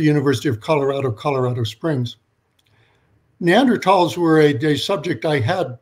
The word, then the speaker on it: Neanderthal: spell it it's pronounced neanderthal uh no th sound in english uh that's because in